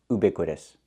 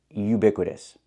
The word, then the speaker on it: ubiquitous: Yes, I know what it means, but it's not pronounced ubiquitous. The word is pronounced ubiquitous. Not oo, but u. We need the y-y sound like yellow and yesterday.